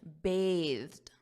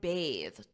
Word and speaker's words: bathed: So here, I just want to point out, notice my pronunciation, bathed, because the noun is bath, bath. For example, I took a bath. That's the noun, but the verb is bathe. I bathed.